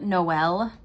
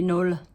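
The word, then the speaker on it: Noël: E, the 2 dots, because in French, you would want the 2 dots over the E, because then it denotes another syllable. Thank you. Otherwise it would just be Noel. So Joyeux Noel.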